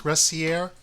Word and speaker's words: Gressier: how do you spell that G oh gracier is that how it's pronounced gracier yes that good pronouns your primary language is